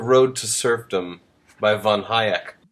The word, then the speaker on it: Hayek: Well, Matthew, I'm reading The Road to Serfdom by von Hayek. Oh, I think it's pronounced Hayek, but okay.